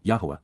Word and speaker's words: Yahowah: Ebed, pertaining to the co-worker and associate of Yahowah, Yahowah, the proper pronunciation of the name of Eloah, God as directed in his Torah, teaching regarding his Hayah, existence and our Shalom, restoration.